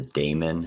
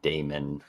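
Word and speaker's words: Damyn: his name is a damon is that what we agreed on it's d a m y n which i guess is damon damon mercenary and so this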